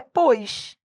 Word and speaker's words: pós: Só que a pronúncia desse pós é pois.